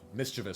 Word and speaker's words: mischievous: didn't even yeah yeah it's a common like mischevous everybody says it wrong sorry yeah learning moment